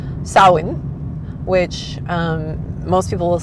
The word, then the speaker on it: Samhain: that we are used to, it is not pronounced Sam Hayne. It is pronounced sawin which um most people will say sa s o w like yay I win.